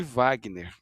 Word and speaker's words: Wagner: de Washington e de som de V de Wagner, né?